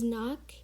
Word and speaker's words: knock: it as n-o-c-k and the first uh k is silent the second k is uh is pronounced so the sixth word